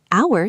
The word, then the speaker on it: hour: Hour starts with a consonant letter, but a vowel sound, so we say an hour.